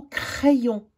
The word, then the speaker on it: crayon: Puis ensuite, il y a le mot crayon. Le Y qui se sépare en deux, le I qui se prononce avec le A, ça fait « est ».